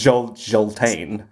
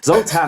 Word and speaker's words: Zoltan: to different european countries they pronounce his name in a different way yeah and every time he's like it's just zoltan zoltan hammer i'm a normal man